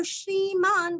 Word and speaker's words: श्रीमान्: नारसिंह सिंह इउ ह सीरस्व और अनुस्वार का इउ नारसिंह वपुष पूरस्व विसर्ग का उच्चारण आधा श नारसिंह वपुष श्रीमान श्री दीर्घ और न आधा श्रीमान।